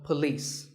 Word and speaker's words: police: it's PA and lease with the stress on lease so police the next word is